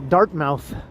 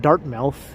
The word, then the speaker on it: Dartmouth: Dartmouth, Nova Scotia as Dartmouth. And then Bevy told me it's not Dartmouth, it's Dartmouth. I was like, oh, okay. But it's spelled Dartmouth. But you just don't say it that way.